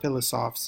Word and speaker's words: philosophes: Philosophes is how it's pronounced.